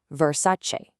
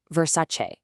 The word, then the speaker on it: Versace: Okay, so a lot of us say Versace, but remember that Italian che ending? It's a che sound. So that gives us 3 clear syllables. Versace. Let's say it together. Versace.